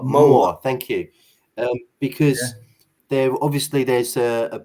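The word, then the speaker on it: Mawr: I was just going to ask you about the name Moa. I'm probably not pronouncing that correctly. M-A-W-R. Moa.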